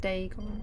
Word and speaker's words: Dagon: ancient philistine legend of dagon the fish god they gone okay good i nearly pronounced this correctly just too quickly dagon they gone like day gone okay day's gone there